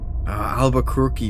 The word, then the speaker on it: Albuquerque: H Albuquerque rhymes with turkey.